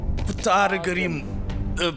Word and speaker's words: Птаргрим: Птаргрим... П не читается.